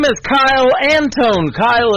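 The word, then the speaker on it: Kile: Kyle is spelled K I L E.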